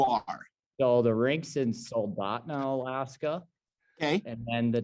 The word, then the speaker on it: Soldotna: So the rink's in Soldotna, Alaska, Okay.